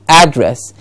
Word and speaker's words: address: from Red Fort yes to a dress dress gets the stress and to add ad gets the stress address two different syllable stresses add address and address and the meaning of the word changes yes please remember Seminole